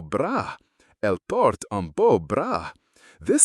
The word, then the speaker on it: bras: Elle porte un beau bras. This sounds an awful lot like she's wearing a beautiful bra in English. But in French, bras, note, no S sound at the end, means arm.